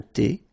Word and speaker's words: thé: Un café glacé, un thé, remember H is not pronounced.